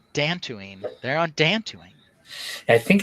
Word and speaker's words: Dantooine: They're on Dantooine. I think it's pronounced Dantooine.